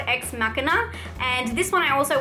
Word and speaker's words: Ex Machina: Another movie that I've actually talked about before, and I pronounced it wrong when I talked about it before, it's called Ex Machina, and this one I also watched on my 31 Days of Horror.